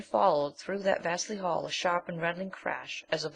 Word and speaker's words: Asher: His name is Asher. Pronounced Asha.